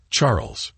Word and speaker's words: Charles: dear husband she replied Charles pronounced the French way as Charles struck me as your